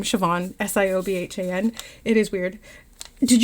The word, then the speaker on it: Siobhan: Irish names are weird, bro. None are spelled how they're pronounced. I looked them up. Haha. Yeah. My name, Siobhan.